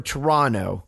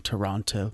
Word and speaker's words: Toronto: I gotta be consistent don't you dare come on this podcast and not pronounce the second T in Toronto thank you carry on